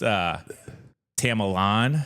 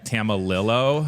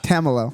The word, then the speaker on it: Tamillow: I've heard it pronounced Tamilon. Okay. Tamillow. That's Tamillow. what I thought it was. Okay. And then Andy Rovat once surprised me and just said camel toe.